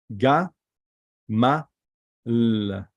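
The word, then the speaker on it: גמל: This is Gimel, Mim, Lamed. So we pronounce it Ga, Ma, L.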